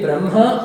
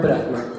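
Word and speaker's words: ब्रह्म: You can pronounce the ha either first or second. You must write it first, but you can say Brahma or Brahma. You can say Vanhi or Vahni. You can say Chinha or Chehna.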